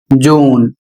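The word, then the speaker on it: June: यू को बड़ा उ पढ़ना है। तो कहां पर पढ़ना है? तो यहां पर देखिए उदाहरण के माध्यम से आपको बताया जा रहा है। जैसे यहां पर स्पेलिंग है जे यू एन ई। इसको पढ़ते हैं जून।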